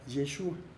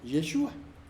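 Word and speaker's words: ישוע: Porque al parecer los galileos no pronunciaban una letra que se llama Ain al final de la palabra, que es como acaba Yeshua. Y quizás por ello se comenzó a escribir el nombre según dicha pronunciación. Entonces quedaría Yeshu, pero en hebreo moderno se pronuncia con A al final, Yeshua.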